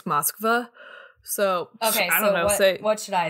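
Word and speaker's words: Москва: which one is correct to pronounce it correctly in russian it's moskva so okay what should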